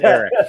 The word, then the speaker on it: Elic: It's spelled ELIC, but it's pronounced Eric.